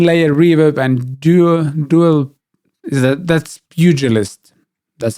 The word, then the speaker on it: Pugilist: That's Pugilist. That's how you pronounce it.